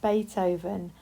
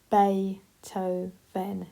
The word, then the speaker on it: Beethoven: It's Bay, and then it sounds like toe, and then it's Ven. So it's Beethoven, Ludwig van Beethoven.